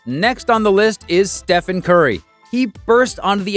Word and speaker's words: Stephen: During the pitch, someone from Nike mispronounced Steph's name, calling him Stefan instead of Stephen.